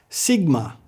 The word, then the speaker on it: Sigma: Sigma. It's pronounced just like our S.